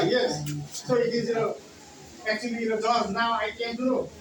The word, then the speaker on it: George: I pronounce as Gergoze. Gergoze. Gergoze. Yeah, because it seems like Gergoze, and I pronounce it that way. But now I don't pronounce it that way because now I came to know that it is not Gergoze, but it is George.